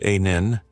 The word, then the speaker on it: Anil: My name is Anil, pronounced Anin.